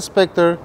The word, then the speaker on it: Spectre: Said it wrong again. Spectra. Okay, what's the name then? So who has a Spectre?